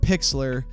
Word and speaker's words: Pixlr: to pay for but i use something called pixlr uh it's spelt pixlr and you just look it up